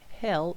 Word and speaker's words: Hel: Very important to emphasize it's Hel with one L, one single L, H E L.